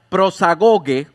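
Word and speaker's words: προσαγωγή: Y es interesante, esta palabra acceso, que en el original se pronuncia prosagoge, se utiliza para hablar de la entrada de un barco a un puerto.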